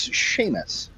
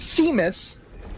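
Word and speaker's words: Seamus: my name on stream my name is Sheamus uh that is spelled s EA M it is not pronounced seus it is not spelled with an H uh the kids at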